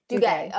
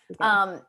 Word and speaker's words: Duguay: Is that how you say his name? How do you say his name? Duguay. Okay. Duguay. I've seen him.